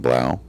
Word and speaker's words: Blau: next victim uh Ellen Blau I think I'm saying that right blue it's pronounced blue blue okay fine whatever